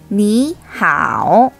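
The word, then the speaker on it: 你好: 그런데 여기서 주의할 점은 제3성과 제3성이 같이 올 때는 앞에 오는 제3성을 제2성으로 바꿔서 발음해 줘야 한다고 했습니다. 그러므로 니, 하오, 니, 하오 이렇게 읽어줘야 합니다.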